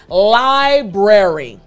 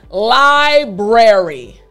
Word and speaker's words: library: So let me break it down for you. Again, library is just L-I-B-R-A-R-Y. I want to focus on the B and the R sound, all right?